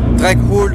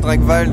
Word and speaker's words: Drakwald: choisi le nom, c'est que Dragval ça se prononce quasiment dans toutes les langues facilement. Dragwald en anglais, Dragwald en français, en allemand pareil, Dragwald.